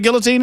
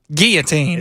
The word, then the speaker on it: guillotine: I pronounce the L's, boys. There's two L's in there for a reason. Y'all y'all don't have any Say it again. Guillotine. Where's the L's? They're silent.